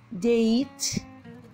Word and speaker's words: date: what is the date the e is silent date date when we have two vowels the first vowel says its name the second vowel is what silent the second vowel says nothing hi what see what